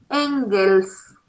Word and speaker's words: Engels: Se escribe con K, K-A-R-L-M-A-R-X, Marx, y otro señor que lo va a acompañar en sus estudios, que se llamó Engels, como suena, E-N-G-E-L-S, Friedrich Engels.